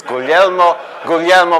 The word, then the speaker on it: Guglielmo: The only reason why Marconi invented wireless broadcasting was to teach people how to pronounce his first name. That's Guglielmo Marconi.